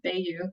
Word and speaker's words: Veilleux: that um that means hey you with the V they you py you that's how I tell my students how to pronounce my name um and as Carolina